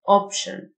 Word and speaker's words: option: TIO تنطق شه Option.